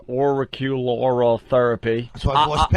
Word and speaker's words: auricular: It's a therapy you can't even pronounce. Auricular therapy.